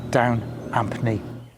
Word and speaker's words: Down Ampney: knowledge and relatives I spoke to it's definitely down Anthony so it's great to see spring and today